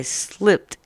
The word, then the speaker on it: slipped: So when we look at this word right here, yesterday I slipped in the mud, it makes the t sound at the end of the word.